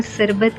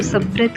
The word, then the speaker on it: सब्रत: Then पहले तो मैं प्रोनाउंस नहीं कर पा रही थी उसे, तो दैन मैं बार बार शरबत कह रही थी, बट इधर गुजराती लैंग्वेज में उसको सब्रत कहा जाता है।